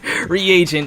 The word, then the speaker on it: reagent: Regent, like how you say it, it's someone who takes over for a gang. Reagent is how it's said for chemicals.